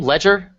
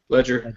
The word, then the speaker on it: Legere: Ledger. Ledger. Ledger. Uh or like as we like to say on the show, Leger.